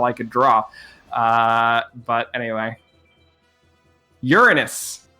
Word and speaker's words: Uranus: Uranus. It is the general pronunciation of the planet. Some people say Uranus, but Uranus is the technical correct pronunciation.